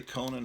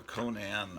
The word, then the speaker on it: Conan: So you could say Conan or Conan. I say it either way.